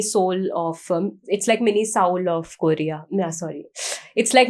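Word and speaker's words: Seoul: इज a difference because people pronounce it एज सिओल also and साउल also and सोल also so what is the correct one so there is nothing such as सिओल first of all when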